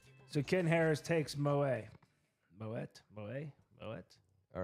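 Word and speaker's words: Moët: Dom a $3 Moet we call it moette but it's Moe champagne uh $2 Corbell champagne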